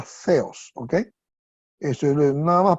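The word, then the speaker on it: Θεός: Okay eso se pronuncia feos con como si fuera th en el inglés verdad feos o como si fuera la z de los españoles de allá de España verdad feos eso no es teos si no se pronuncia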